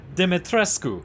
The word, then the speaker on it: Dimitrescu: just not my accent it's alcina de metrescu but i can't pronounce that consistently so we're gonna go with dimitresque or maybe even dimitrescu i don't know anyways